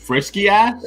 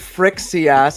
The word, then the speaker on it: Frixias: When we hooked up with Frisky Ass? Frixias, I said it right. I corrected myself.